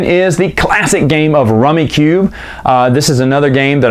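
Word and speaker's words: Rummikub: to because rummy well I say rummy cube everyone's kissed that's not how we pronounce it rummy cub that's fine whatever I just know well maybe my whole family just mispronounced was could we didn't care we caught rummy cube it's a fantastic game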